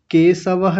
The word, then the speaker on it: केशवः: आप इसकी जगह इसका उच्चारण कर रहे हैं। दंत्य सकार का आपने बोला केशवः केशवः नहीं केशवः केशवः ऐसा बोलिए।